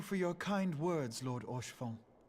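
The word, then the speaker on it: Haurchefant: I always call him Horshfont. 'Tis Don't true pronounce that H. Eorzea yet has her guardians. Which makes sense, because it's like, you seem to be like French. Like you say it like a French word, and French doesn't pronounce the H, so Horshfont makes sense.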